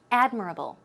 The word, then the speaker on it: admirable: a look at this it's admirable not admirable the stress goes right there on the first syllable so it's admirable admirable good job let's